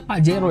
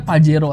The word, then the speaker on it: Pajero: ini Mitsubishi Pajero Evolution bacanya Pajero ya guys ya Bacanya jangan pakai Hero cuy kata ini nih adalah bahasa kotor dalam bahasa Spanyol Jadi kalau misalnya kalian